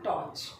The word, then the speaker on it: torch: टॉर्च में आर को बहुत ज़्यादा ऐसे चिल्ला के नहीं बोलना, टॉर्च। Smart, SMART, smart.